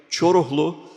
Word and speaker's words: Coruhlu: years that had actually pronounced my surname correctly, Coruhlu, which is almost as hard as Ertuğrul.